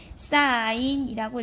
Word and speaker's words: sin: SIN이라고 쓰고요. 읽을 때는 사인이라고 읽어주시면 됩니다.